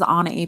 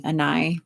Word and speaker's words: Anai: If you guys see my name on my description below, and you're like, how do you say that? That's how you say it. Some people call me Anai. That's not correct, but you can't say that.